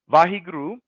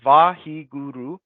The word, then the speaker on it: Vaheguru: And so Vaheguru is consisted of four syllables. Vaheguru, a wonderful, so Vahi, a wonderful light that illuminates the darkness.